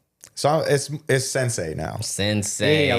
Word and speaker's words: Scendsei: sensei, but it's still spelled like sen, cause that came from Scratch and Blend put together. That was Scratch like, and Blend, okay. Yeah, SCEND.